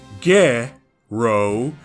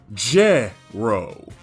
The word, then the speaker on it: Gero: In Japanese, G and J have their own separate sounds and will never sound like each other like how they do in English. His name uses ge-ro as opposed to je-ro.